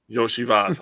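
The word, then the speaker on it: Iosivas: Andre Yoshivas? I'm not embarrassing myself. He's from Mario. It's Yoshi and then Vas. Yoshivas.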